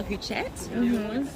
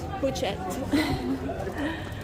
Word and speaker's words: Huchette: I try not to pronounce the last word. The last letter? Yeah, because it That's looks the like rule. that's, Yeah, that's the rule.